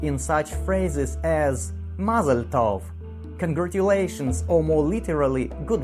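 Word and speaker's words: טוב: Well, since we know how to read and pronounce all our letters, we will try to read our word. Tov.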